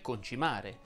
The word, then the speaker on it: concimare: dice concimare o concimare si dice concimare perché l'accento è sulla i quindi l'auto e ad